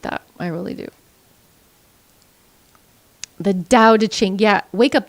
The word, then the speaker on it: Tao: The Tao Te Ching. Yeah, wake up. The Tao is spelt with a T, but it's pronounced with the D.